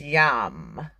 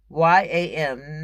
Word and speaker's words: yam: is green and the sound you make to open your heart chakra is yum y am not yam but yum you have to pronunciate it right for it to work you just can't say yam yam yam yum yum when it's yum like how tina turner did